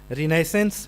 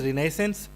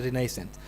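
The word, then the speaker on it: Renaissance: and number three is रिनेसेंस रिनेसेंस the word is रिनेसेंस and even some time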